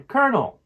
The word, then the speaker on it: Colonel: chicken recipe that's it for today's lesson on konel it's a little bit tricky but with practice